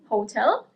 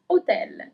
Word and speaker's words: hotel: you pronounce it as hotel. In Italian, it's hotel. So you actually the accent is slightly different as well, but especially you don't pronounce the first H.